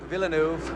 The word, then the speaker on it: Villeneuve: Indy without a doubt jacques villeneuve to use the american pronunciation was the fastest car